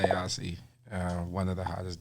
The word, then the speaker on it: Ausee: he says say Aussie so to pronounce it's Aussie like Australian or like well my name is asean so and asean came